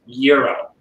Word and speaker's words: gyro: me and said no it's a greek word and it's pronounced euro and i learned the